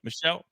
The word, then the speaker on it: Meshell: How do you, I don't want to mispronounce his name. Yep. Meshell.